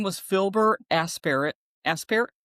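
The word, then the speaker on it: Aspairt: You don't pronounce the T. Okay. Aspar.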